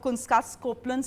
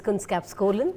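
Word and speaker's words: Kunskapsskolan: Sunita Nambiar is the CEO of Kunskas Copeland School. Have I got the pronunciation right? Well, it's Kunskapskolan. All right, that's what it is.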